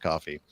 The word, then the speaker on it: Ko-fi: uh our coffee now ko-fi I guess that's pronounced coffee but you can leave